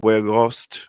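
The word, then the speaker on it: Weghorst: wood retail uh walk where ghost i think his name is pronounced where ghost or where where ghost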